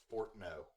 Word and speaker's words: Fortnote: Gritsney Fortno. Yep. Oh. But it's spelled Fortnote. Yep.